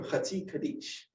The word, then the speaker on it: Chatzi Kaddish: Now, the Chatzi Kaddish, or Chatzi Kaddish is the proper pronunciation.